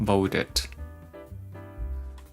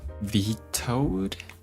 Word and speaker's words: veto: Oh, it's not vod. How do I pronounce this one? Veto.